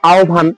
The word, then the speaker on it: আহ্বান: রস আর ভ হয় মনে রাখতে হবে যদি এই হয় যুক্ত ব এর সামনে অথ কিংবা আ স্বরধ্বনি থাকে তাহলে এই হয় ব এর উচ্চারণে হবে ও প্লাস ভ যেমন দেখো আও ভান এখানে হয় ব এর সামনে কে আছে আ স্বরধ্বনি আছে তাহলে এটার উচ্চারণ হবে ও প্লাস ভ তাহলে আও ভান যেমন দেখো জিভা এখন